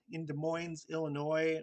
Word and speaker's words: Illinois: The S in Des Moines, Illinois, Arkansas, are also not pronounced because of the French that held those areas before.